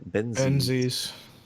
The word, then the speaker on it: Benzies: so leslie ben's eyes how did you say it ben benson is how you say